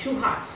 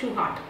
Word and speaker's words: Shewhart: Walter Andrew ஷிவார்ட், pronounced like a Shewhart, அவர் பேரை வந்து நம்ம வந்து ஷிவார்ட் சொல்ல மாட்டோம், Shewhart, was an American physicist, engineer and statistician, sometimes